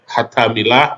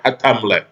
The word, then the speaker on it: Hatamleh: Hatamillah bacanya Hatamleh.